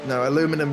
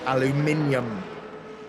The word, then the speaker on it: aluminium: Aluminum doesn't exist. Aluminum's not a real thing. It's aluminium.